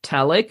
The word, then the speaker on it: telic: The consensus seems to be that it's pronounced telic, and the other word is atelic.